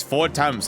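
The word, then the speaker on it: Fortemps: just said it right it's four temps like four temp temperatures four times the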